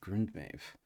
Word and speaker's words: Grundmeth: So up here it was Grundmef, which I believe is pronounced Mave, Grundmave.